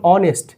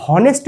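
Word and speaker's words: honest: যেমন অনেস্ট যেমন তোমাদের এইচ ও এনই এসটি। অনেস্ট। এখানে আমরা উচ্চারণ কোনটা করি? ও দিয়ে শুরু হয় উচ্চারণটা। অনেস্ট। নট এইচ দিয়ে হনেস্ট বলি না।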